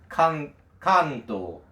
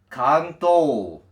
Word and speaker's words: Kanto: And then Kanto, which is the region where Tokyo is, Kanto. That's the official pronunciation. But the announcer said Kanto. That's very, very different.